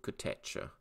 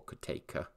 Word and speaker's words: Kotecha: In fact, we came across a quote from Mitul Kotecha, or Koteka, depending how one pronounces it, senior emerging market strategist at TD Securities in Singapore.